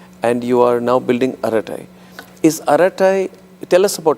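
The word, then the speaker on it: Arattai: and we have we have what is aratai? I mean for those who are not yet totally famili you are actually saying it pronouncing it exactly. Aratai aratai.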